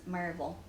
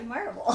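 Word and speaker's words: Maryville: her to Pro to pronounce marville because if she says Marvel I know she's really a Tennessean but if she says Mary de that's that's so that would be my test is is it really you Dolly s s how do you pronounce m a r y v i l l e and she'll say marble so but anyway that's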